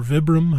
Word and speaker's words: Vibram: And these are made by Vibram or Vibram, however it's pronounced. I think it's Vibram. Yeah. Like 5 fingers yep. is a long I or whatever.